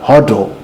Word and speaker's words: HODL: are in the know huddle um it's it's an indoor joke for a while it's an inside joke for people who do cryptocurrencies it's just spelling hold the wrong way so how do they